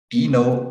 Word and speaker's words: Deno: Deno, if you split the syllables, like Deno, if you remember the syllables from primary school, Deno, and then if you just flip the syllables, it makes Node.